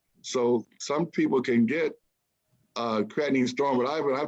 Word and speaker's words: creatinine: Maybe I'm not saying it correctly, but it's creatine storm. Maybe it's The creatinine, that's from the kidneys.